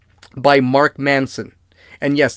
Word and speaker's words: Manson: an F by Mark Manson and yes that's Manson not Madson I keep pronouncing it Madson it's Marc Manson like the serial killer this book was a